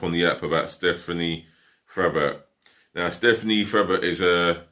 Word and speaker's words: Frappart: She goes by the name of Stephanie Frappart, or Frappart, as it's pronounced in French, because she became the